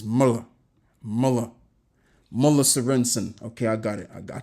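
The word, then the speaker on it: Møller Sørensen: So it's pronounced Muller Sorensen. Muller. Not Muller, but Muller. Yeah, okay. I think I got it. Slightly. Right, so it's It's Muller. Muller Sorensen.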